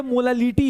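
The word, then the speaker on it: molality: नाम प्रोनाउंसिएशन बेटा कभी-कभी अगर सही से नहीं प्रोनाउंस करोगे दोनों इक्वली साउंड करते हैं। लेकिन दोनों में बहुत बड़ा डिफरेंस है। ये मोलैलिटी है।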